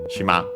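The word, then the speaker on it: 島: the name uh shima the noun shima uh which is uh the Japanese term for island should be accented on the last syllable and it is uh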